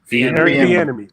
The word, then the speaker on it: Bieniemy: I mean, Andy Reid and Eric, how you pronounce his name? Bieniemy. Bieniemy.